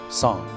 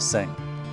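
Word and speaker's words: Tseng: in the game is pronounced song as opposed to sing right which is just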